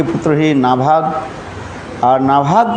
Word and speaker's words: नभग: कल हम लोग श्रवण किया था अम्बरीश महाराज की परंपरा की कथा श्रवण किया था, जिसमें नभाग के पुत्र हुए नाभाग और नाभाग के पुत्र हुए अम्बरीश।